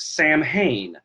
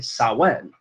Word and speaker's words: Samhain: that it was pronounced Samhain but the Irish Celtic language is anything but straightforward and how it's pronounced so it's actually saw when now we're going to